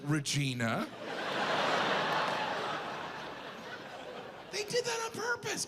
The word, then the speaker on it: Regina: The capital is Regina? That's not necessary. Regina, they could have pronounced it Regina.